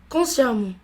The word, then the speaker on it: consciemment: Consciemment. Et attention, le E se prononce A.